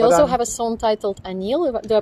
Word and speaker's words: Anil: exactly yeah you also have a song titled anil do i pronounce it correctly yes is it because of